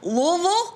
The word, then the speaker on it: Louisville: Louisville. You got to say it like that.